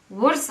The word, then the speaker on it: WRS: how to pronounce this because it is spelled wrs but yeah it is pronounced as as one thing it's worse and it comes from